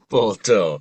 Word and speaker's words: botho: I know that some of your work involves is it botho or botho philosophy? Oh, too. Botho.